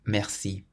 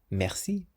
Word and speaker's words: merci: And that's the same with the word that we've just learnt, merci. Merci, which means thank you or thanks. So you always stress the last part of a word in French.